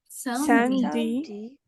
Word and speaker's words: samedi: Le E n'est pas prononcé.